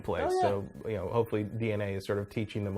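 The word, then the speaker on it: DeNA: How do you pronounce that name? DNA? Is it DNA? DNA.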